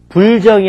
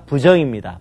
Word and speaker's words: 부정: 불 뒤에 디귿과 지읒으로 시작되는 음이 올 때는 불이 아닌 부로 발음합니다. 예를 들어서 불정이 아니라 부정입니다.